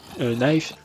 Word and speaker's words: knife: faire un bon knife knife on prononce pas le cas normalement Blade alors pourquoi il